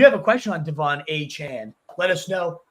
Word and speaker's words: Achane: have no idea yeah I think it's a Chan is what he decided to to go by uh a chain would